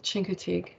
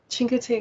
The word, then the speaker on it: Chincoteague: is this is now in a place called Chincoteague cheek cheek Chincoteague Island yeah which is where it's on the